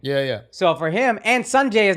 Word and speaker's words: Sanjay: You put a D in there. I put the D. It's Sanjay.